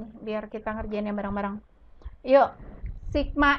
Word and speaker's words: sigma: Artinya di sini ada lambang sigma. Ini adalah seperti huruf M tapi ke samping ya. Ini dibacanya sigma.